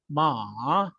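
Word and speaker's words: 马: So for the horse, it will be ma, because it has the third tone over the A, which is final.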